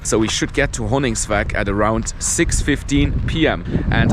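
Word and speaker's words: Honningsvåg: And now we are heading to a town called Hönigsvag. I think that is how you pronounce it.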